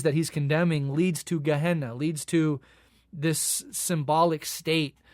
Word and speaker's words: Gehenna: almost always actually using the word geah gehenna I believe is pronounced.